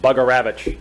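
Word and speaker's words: Bugarewicz: Mike his crew chief mike bugger Ravich is the best pronunciation of his name will go with chris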